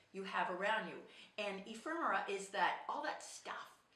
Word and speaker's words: ephemera: have in boxes called Infirma. I can never pronounce that right. Hang on here. Infirma. Is that it? I think so. Now let me spell it out for you. Anyway, I think it's called spelled E-P-H-E-M-E-R-A. Ephemera.